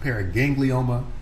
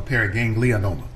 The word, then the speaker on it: paraganglioma: for clarification is it is it pronounced periganglioma or para ganglianola yeah i obviously i often add in the extra vowel so it's a pair